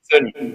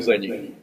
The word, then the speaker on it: Zani: Tá correta a pronúncia? Zani, isso do italiano, Zani.